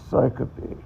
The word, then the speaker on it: syncope: And I'm probably mispronouncing it, but it's called syncope.